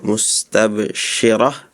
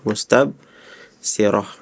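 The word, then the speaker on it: مستبشرة: Terus juga syin ya huruf syin di surah Abbasa ya mustabsyirah tadi bacanya mustab sirah biasanya ketukar-tukar aja karena lupa ya.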